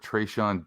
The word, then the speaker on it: Tre'Shon: You can find me on Twitter at @TheMaxDean, and I am here with Tre'Shon Diaz at Trey3Sean. That's how you would phonetically say it say it out on Twitter.